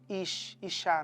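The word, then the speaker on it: אישה: Ele olha para Eva e fala: então agora você não é mais simplesmente a Ishá, né? Que é a pronúncia no hebraico.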